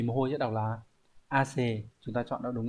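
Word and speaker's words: 汗: Vậy thì mồ hôi sẽ đọc là ace, chúng ta chọn nó đúng là 1.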